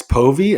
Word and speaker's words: Povey: across the pond by my new friend Alex poie am I pronouncing your name correctly beautiful perfect Alex poie and I met at the coaches room Mastermind